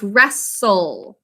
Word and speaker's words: wrestle: reviewing now please write wrestle we think to spell restol another one with a silent restol excellent job drishya arjun